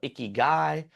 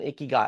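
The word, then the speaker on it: ikigai: And so Dan Butner probably talked about icky guy, which is spelled I K I G- AI, which roughly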